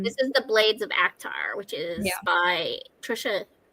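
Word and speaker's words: ACOTAR: out the decorations Christina it's spelled actar a k t a r it's not a quart of thorns and Roses a quart of THS and Roses is very spicy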